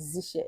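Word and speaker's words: zsh: So the last tool on my list today is the command line tool, which is Bash and Z Shell, pronounced as Z Shell.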